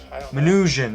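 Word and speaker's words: Minujín: 2017 artist marta manuen manuhang how do you say that uh minutian there you go martinusian begins redistributing books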